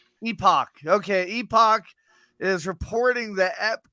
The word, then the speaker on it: Epoch: pronounce that? Epoch. Epoch.